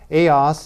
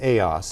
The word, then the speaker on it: ELLAS: ELLAS IS THE SPANISH PRONUNCIATION FOR THE ACRONYM ELLAS, THAT ACRONYM STANDS FOR EMBRACING LATINA LEADERSHIP ALLIANCES.